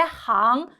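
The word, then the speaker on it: 行: 오케이 그다음 거 볼까요 우리 그 직업 같은 걸 얘기할 때 항 이해라고 있습니다 근데 행동 같은 거 얘기할 때 우리 행인을 얘기할 때는 싱이라고 읽어요 그래서 식물의 발음 조심하시길 바랍니다 별표 별표 오키 그러면이어서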